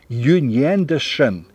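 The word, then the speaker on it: 永远的神: перевести как вечный Бог произносится это как её не дешен я уже предупреждал что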